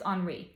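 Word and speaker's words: Henri: name of like uh it's French so it's spelled Henry but I think it's pronounced HRI Peno P something like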